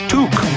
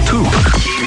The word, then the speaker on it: toque: The first 8,000 fans will receive a free Gulls toque. What's a toque? I don't know, but it rhymes with kook.